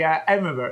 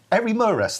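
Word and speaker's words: Eremurus: So they are the Emirus. Is that how you pronounce it? Emirus. Yeah, Emirus. They're one of those words. Erimurus, that's it.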